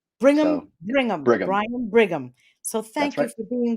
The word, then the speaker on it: Brigham: correct is it brian bringham or bringham how do we pronounce your name so no end so it's brigham like brigham young university bring them bring them brian brigham so thank you for